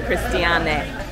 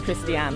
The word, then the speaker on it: Christiane: I'm being called Christiane today because there is a guy on the boat called Christiane or Christian. I would pronounce Christian, he pronounces Christiane, and so that's all a bit confusing.